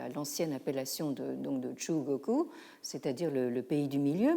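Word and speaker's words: 中国: refuser de la reconnaître comme Zhongguo, en japonais Chugoku. Donc actuellement, le Japon est revenu maintenant à l'ancienne appellation de Chugoku, c'est-à-dire le pays du milieu, mais vous voyez ici quel est l'enjeu justement de la translittération.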